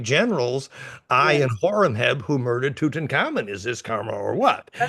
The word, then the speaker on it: Tutankhamun: I find it hard to say his name in English, but Tutankhamun. That's how we say it, anyways.